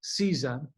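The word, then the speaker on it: CISA: of Homeland Security cybersecurity and infrastructure security agency pronounced seiza over the weekend updated its list of essential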